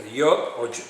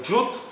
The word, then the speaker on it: Yud: Aquí está Yod o Yud, como se dice en hebreo. Yud se escribe Y-O-D.